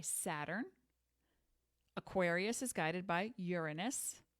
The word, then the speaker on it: Uranus: Aquarius is guided by Uranus that is the correct pronunciation unless you're in fourth grade and you want to make a joke and then Pisces is